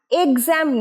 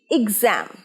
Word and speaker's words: exam: exam নয়, এ নয়, উচ্চারণ ই, exam, exam, exam, exam।